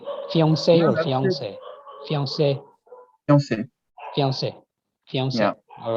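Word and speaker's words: fiancée: But when you pronounce them if you pronounce them in an English sentence, you'd pronounce them more with an American accent. So you'd say like fiance.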